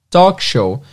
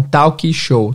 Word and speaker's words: talk show: em cima aqui apresentar então para apresentar um talk-show é se escreve t a l k então muitas pessoas em português falam talk-show talk show inclusive o Danilo Gentili fala talk